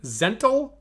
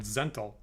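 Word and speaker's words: Zhentil: and a gentle keep should I be saying zental I'll give you two options a zental b gentle what is okay it sounds like the first one right because the second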